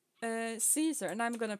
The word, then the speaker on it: Caesar: pronounce his name as kaiser but yeah because that's how he pronounced this he pronounced it with the k but caesar uh he